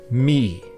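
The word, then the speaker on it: Mí: In modern Irish, it's pronounced Me.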